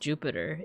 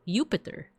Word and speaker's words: Jupiter: wouldn't have been pronounced Jupiter back in Roman times. It actually would have been Jupiter um with with like a Y sound.